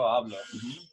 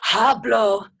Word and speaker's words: hablo: Yo hablo. And it's not hablo.